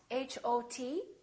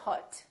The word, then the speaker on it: hot: So for example, the word hot, H-O-T, we don't say hot, we say hot. It's pronounced exactly as the ah in the words father or army or watch.